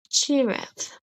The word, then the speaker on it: giraffe: When g comes before e i or y, it says j. Example giraffe.